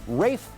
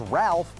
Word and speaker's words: Ralph: a Brit thing for example I was calling Rafe finds Ralph before he corrected everyone over a decade ago